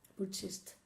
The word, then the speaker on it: purchased: No, it's a T. Purchased.